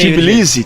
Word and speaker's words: Tbilisi: Amanhã tem Geórgia versus Canadá, em Tbilisi, como é que se pronuncia? Tbilisi. Aí, Tbilisi. Em Twickenham, Inglaterra contra a Argentina.